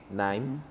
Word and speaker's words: KNIME: Por ejemplo, hay uno que se escribe KNIME, NIME.